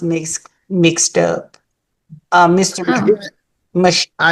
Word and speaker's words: Mychael: And he told me earlier how to pronounce then is it My- Mychael? It's Mychael.